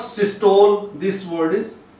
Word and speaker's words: systole: also a word which is commonly mispronounced systole. So this term is used in measuring blood pressure, like systolic, diastolic, and systole, not systole. This word is systole, and here E which